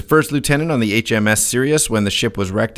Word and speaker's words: Sirius: But it's spelt like Sirius XM SIR. What does that word mean? IUS. I'm serious.